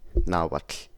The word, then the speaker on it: Nahuatl: Lateral fricatives and affricates for their part can be found in languages like Nahuatl, or how they say it, Nahuatl, featuring an alveolar lateral affricate.